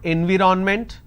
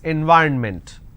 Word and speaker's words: environment: possibilities leverage discrimination environment it's not environment please stop saying environment its environment the next is government